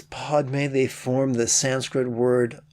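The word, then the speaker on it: padme: mammals and clever primates the fourth syllable pod rhymes with padre and the fifth syllable may rhymes with the month of may together as pod may they form the sanskrit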